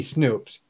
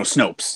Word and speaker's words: Snopes: __ ] kidding me snoops how do you pronounce their websites names and Snopes snoops how about snoop to believe or no Snopes that's it I was [ __